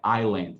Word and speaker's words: island: Então, muita gente pronuncia island, não é island, não tem o som do S.